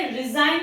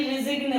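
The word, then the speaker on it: resign: Similarly हम इसे रिजाइन पढ़ते हैं, ना कि रिजिग्न पढ़ते हैं।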